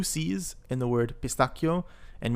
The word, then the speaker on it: pistacchio: Al pistacchio, with pistachio. Notice in Italian we have 2 C's in the word pistacchio, and we pronounce it with a K sound, pistacchio, instead of a sh.